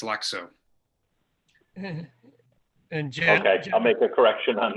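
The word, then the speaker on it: Lakso: that's correct l-a-k-s-o okay i know you want to say lasko but it's lexo i'll make a correction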